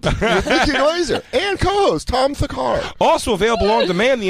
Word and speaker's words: Thakar: is Tom Thakar. It is not Tom Thacker. Is an A.